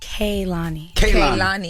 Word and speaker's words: Kehlani: It's very important that during this era of my life, I let everyone know that my name is pronounced Kehlani. Who said otherwise?